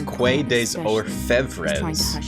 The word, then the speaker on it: Quai des Orfèvres: It's not Quai des Orfèvres, it's Quai des Orfèvres. Yeah, I'm trying to stream Wizardry at night now.